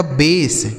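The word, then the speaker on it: base: बी ए एस ई, इसे पढ़ा जाएगा बेस। क्या पढ़ा जाएगा सर?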